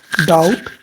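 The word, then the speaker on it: doubt: डाउट। ठीक है, B silent है।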